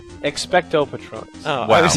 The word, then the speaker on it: Expecto Patronum: Expectos Patronus produces a crossing guard in Harry Potter, so what would yours do? You mispronounced all of that. I really thought I was... Patronus? Expecto Patronus.